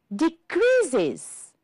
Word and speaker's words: decreases: Decreases. 3 syllables. Pay attention here because the final S is heard is. So this is why we have 3 syllables.